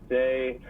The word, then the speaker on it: Seay: but it's say my last name's kind of weird but it's spell s a y it's French I know it's kind of weird but pronounced say SE a y but say